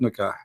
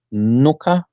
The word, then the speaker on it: nikah: Is it pronounced nuka or nika? You see, you can pronounce it any way you wish. Any Here, however, both, yeah? it is Okay. nikah or nukah. It doesn't matter really. Okay. It depends in the location of the word.